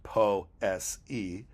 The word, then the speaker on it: poesy: The hill is steep, the one I climb each day called poesy, pronounced po-s-e, with chasms that I must leap, into which a sudden plunge is grim and messy.